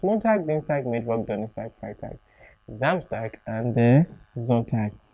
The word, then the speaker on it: Donnerstag: Thursday, Donnerstag. Take note of my pronunciation. It's spelled with a G at the end, but I'm pronouncing it as Tag.